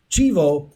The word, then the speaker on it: chivo: read this whole story but in el salvador chivo i looked up i looked it up so